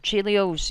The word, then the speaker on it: Chelios: there we go there we go uh Mr chilios is that how you pronounce your name yes ma'am uh what's your